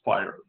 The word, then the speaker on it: FHIR: or Health interoperable Resources as common known as fire and pronounced fire it's the Next Generation